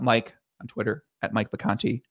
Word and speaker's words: Vacanti: on Twitter at Mike Vacanti, not Mike VI, it's VA, which I sometimes spell it VI in my mind because it sounds like the Conti, like VI.